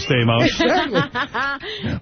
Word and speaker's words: Stamos: I think homos rhymes with Stamos.